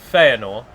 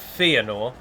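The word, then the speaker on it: Fëanor: But if, for example, I say Feanor instead of Feanor, then people kind of let it slide, and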